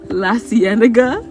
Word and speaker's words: La Cienega: How you pronounce it? La cienega.